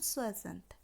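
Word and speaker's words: soixante: আগের দিনে আমি 60-এর উচ্চারণ বলেছিলাম সোয়াজান্ত।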